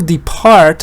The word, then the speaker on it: depart: It says when you add, for example, depart, stress is on part. Even if you add something to it, again, stress will be on part.